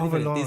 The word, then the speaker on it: Rabelais: francés se debe pronunciar Rabelais.